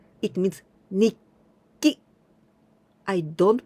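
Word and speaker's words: にっき: It means nikki. I don't pronounce tsu anymore. Nitsuki like this. Nitsuki, not like this. When tsu is small, then I pronounce nikki.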